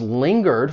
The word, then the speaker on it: linger: Some customers lingered for a while after the shop closed, and they just took longer than usual to leave.